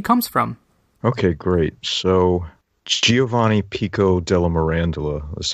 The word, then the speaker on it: Giovanni Pico della Mirandola: So Giovanni Pico della Mirandola is how I pronounce his name.